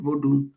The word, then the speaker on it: Vodun: This is formerly known as Dahomey, and it is where voodoo, V-O-U-D-O-U comes from, or voodoo, V-O-D-U-N. The N is usually silent, voodoo, but we call it New Afrikan Vodun.